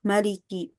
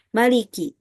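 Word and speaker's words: مالك: Imam Asim dan Alqisai membacanya dengan mad yaitu Maliki. Maliki. Sedangkan semua imam lainnya tidak memanjangkannya yaitu membacanya dengan Maliki.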